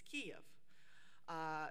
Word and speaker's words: Kiev: have fought for because in ukrainian it's cave but in russian it's kiev which is spelled as